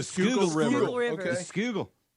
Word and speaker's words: Schuylkill: Skugel. It does not look like it's spelled.